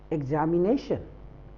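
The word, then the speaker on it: examination: टी आई ओ एन एग्जामिनेशन नो नॉट एग्जामिनेशन this is एग्जामिनेशन ए एग्जामिनेशन इग ज नॉट जा this is ज इ एक्स ए इ ज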